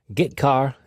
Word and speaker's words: getchar: The 2 most common C language character I/O functions are getChar and putChar. That's how I pronounce them.